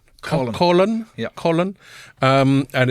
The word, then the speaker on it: Coughlan: The most common way to pronounce it is cockland. Cochland. Right. But in Cork City and Kinsale for some reason would pronounce it column.